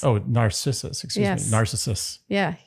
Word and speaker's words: Narcissus: Narcissus. Yeah. His name wasn't pronounced Narcissus. Narcissus. You're right. It is Narcissus.